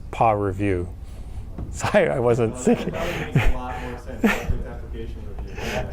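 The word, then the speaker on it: PAReview: Oh, Yeah, so you can I pronounce this as PA review.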